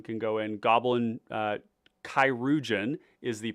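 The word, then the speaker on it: Chirurgeon: go in Goblin uh kirugen is the pronunciation of this uh it's a French word it's an old French word for surgeon um we're definitely playing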